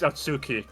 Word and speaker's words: Atsuki: Wait, I actually don't know how to Is it Oski? It's Atsuki, but we we keep saying they don't know how to pronounce his name.